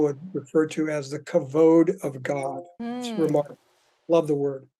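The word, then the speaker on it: כבוד: understand pursuing God's presence first of all it's pronounced covered already this is a really common uh sort of interpretation of the word kavoda it's actually kavod I love the Hebrew word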